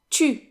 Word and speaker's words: tu: So how do we pronounce tu, since the U sound does not exist in English? Well, I've got a little trick for you. What you can do is pronounce the English word T and then stretch out the E sound, and as you're doing that, don't move your tongue, but round your lips tightly, and then you should get the French U.